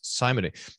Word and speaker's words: simony: Pastor Nauman, I need you to tell me how to pronounce simony. Is it different if you have a slightly British accent? That's a good question. Jim, rhymes with Jim.